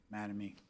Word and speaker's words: Mattamy: Just a comment or two about Mattamy Homes, in case anybody isn't familiar. I always get a question about the name. It's our founders' two kids' names, Matt and Amy, put together, Mattamy.